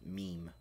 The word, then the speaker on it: meme: Because the E on the other end of the M makes the other E say its name.